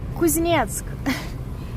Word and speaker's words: Kuznetsk: What is the pronunciation of Kuznetsk? Kuznetsk.